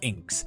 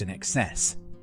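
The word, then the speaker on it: INXS: student early 90s that the band inks was not pronounced inks but pronounced in excess I'll laugh for a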